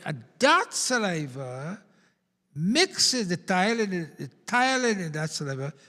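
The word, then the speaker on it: ptyalin: Saliva will come in, and that saliva mixes the thiolin in that saliva, P-T-Y-A. Thiolin, the P is silent in thiolin, and that creates lots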